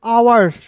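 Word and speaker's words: hours: ओ यू आर एस है तो इसे पढ़ेंगे आवर्स क्या पढ़ेंगे आवर्स हावर्स नहीं पढ़ेंगे दोस्तों।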